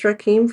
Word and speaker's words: Rakim: Yeah, I was just going to look at I want to understand how to pronounce his name. Do you know it's Rakim for sure?